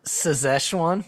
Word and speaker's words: Szechuan: But before I cut It's actually that, pronounced Szechuan. There's a Z. There's a Z in there.